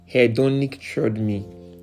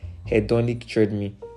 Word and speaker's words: hedonic treadmill: It's pronounced as hedonic treadmill. HEDONIC, then treadmill.